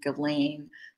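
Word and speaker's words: Ghislaine: um or someone I someone told me to pronounce her name galane Maxwell but anyway she she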